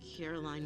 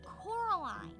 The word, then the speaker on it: Coraline: Caroline what? Coraline. It's the new neighbor, Miriam. Caroline. Caroline, Caroline, Caroline. Caroline. Coraline. She feels depressed and ignored,